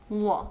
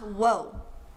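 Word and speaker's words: 我: Wo. Not wo, but wo. Even though it's spelled W-O in pinyin.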